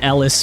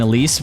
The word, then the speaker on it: Elise: I've always heard Ellis more than Elise, but I I never heard it with like actual proper spelling, so that could partially be it.